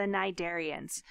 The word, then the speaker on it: Cnidaria: This lecture is going to be all about our friends, the cnidarians. So this word cnidaria, which yes, starts with a silent C, cnidaria means stinging thread.